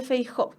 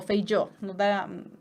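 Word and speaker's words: Feijoo: El romanticismo español durante el siglo XVIII, ¿cierto?, tuvo como exponente a Benito Jerónimo de Feijó, o Feijó, hay distintas maneras de pronunciarlo.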